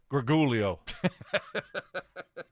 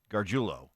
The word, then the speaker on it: Gargiulo: But no, the official pronunciation, we feel bad for him. Hopefully a speedy recovery. See him back out on the field next year. Nik Gargiulo. Yeah, that's a tough one.